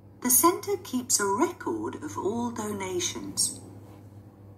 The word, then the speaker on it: record: Ở đây record lại đóng vai trò là động từ, nên nếu là động từ thì trọng âm sẽ rơi vào âm thứ hai. Thay vì đọc là record, giống như từ bên